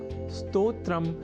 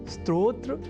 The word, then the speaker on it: स्तोत्र: अर्थात स्तोत्र में अर्ध सकार के बाद त और ओ इन दो अक्षरों का संयोग है। और इसके बाद त्र इस संयुक्त अक्षर का। यदि हम यह ध्यान में रख लें तो कभी भी स्तोत्र के स्थान पर स्त्रोत्र या स्त्रोत जैसे उच्चारण या लेखन हमारे प्रयोग में ही नहीं रह सकेंगे।